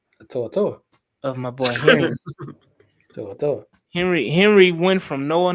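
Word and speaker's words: To'oTo'o: saw the emergence toour of my boy Henry to to Henry Henry went from Noah Noah to to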